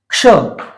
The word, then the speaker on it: क्ष: जैसे कि क्ष, क्ष का अगर आपको सही उच्चारण करना है तो आपको ये है हलंत। जिस वर्ण के नीचे भी ये लग जाए तो ये उसकी ध्वनि को आधा कर देगा। और ये है श। तो अगर आप इन दोनों ध्वनियों को एक साथ बोलेंगे तो इसका उच्चारण स्वतः ही हो जाएगा। इसे हम बोलेंगे क्ष।